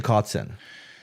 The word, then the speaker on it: Kotzen: Richie Kotzen.